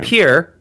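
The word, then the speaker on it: Pierre: out of this so in Pier which that's how you pronounce that yes that's correct the meat is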